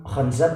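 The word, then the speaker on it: خنزب: Orang-orang yang sholat itu ada setannya khusus yang disebut dengan golongan khanzab atau khinzab gitu ya. Khanzab, khinzab, ada dua cara membacanya.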